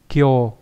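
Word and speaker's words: 京: chút thì đây là chữ kinh đọc là gì này là đau là Kyo ví dụ trong từ Kyoto Kyoto đúng không ở thành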